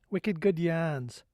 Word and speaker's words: Wicked Good Yarns: The correct New England pronunciation is Wicked Good Yarns.